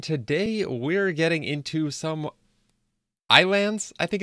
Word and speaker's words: Ylands: deed up here and today we're getting into some islands I think it's how you say it it's spelt Y lands but I've heard the videos the trailers whatever they all pronounce it islands and yes today is